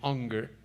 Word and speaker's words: Unger: Bueno, cuando fui a Dallas, allí con estos queridos profesores, doctor Johnson, doctor Unger, se escribe Unger, pero dicen Unger, Stanley Toussaint, Walbert, una serie de hombres de Dios.